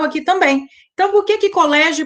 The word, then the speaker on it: colégio: Elas têm a penúltima sílaba mais forte, ó. Colégio, né? Se estende o lé. Polícia, o li se estende. Então, essas sílabas são as mais fortes.